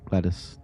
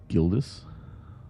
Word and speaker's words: Gildas: Once the rubble is cleared, we will hoist Gladys down into the chamber. He may begin to translate the ancient texts. Is it meant to be Gildas? I'm saying it wrong.